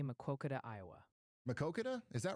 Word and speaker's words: Maquoketa: It's pronounced Maquoketa. That's how you say Maquoketa, Iowa.